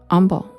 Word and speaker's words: Humble: And there's a town in Texas called Humble. And it's spelled humble.